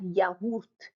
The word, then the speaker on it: yaourt: And we also have yaourt, yaourt, yaourt, two syllables, yaourt, yaourt, a yogurt, a thick yogurt.